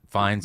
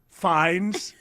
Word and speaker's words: Fiennes: I've read the Ralph as Fiennes is the Pope? Rafe. Rafe. Yeah, whatever. Rafe. Ralph. It's Rafe. Fiennes.